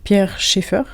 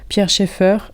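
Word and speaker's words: Pierre Schaeffer: écriture et forme émergente pierre Cheffer ça se prononce comme ça pierre Cheffer impact je sais qu'il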